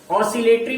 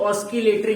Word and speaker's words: oscillatory: We called it ऑस्किलेटरी motion. Spelling सब लोग इसका याद रख लेंगे। ऑसिलेटरी भी बहुत से लोग बोलते हैं, बहुत से लोग ऑस्किलेटरी भी बोलते हैं।